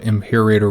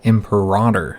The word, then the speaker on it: Imperator: Apparently I've been pronouncing that wrong. Now Imperator, from my understanding, is a pretty popular mispronunciation of the word, so much so that when you look it up, there's a lot of places that'll say that it's okay to say it that way, but apparently in Latin